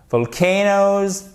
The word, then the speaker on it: volcano: Faites bien attention ici parce qu'à chaque fois, vous avez l'accent tonique sur la deuxième syllabe, d'accord?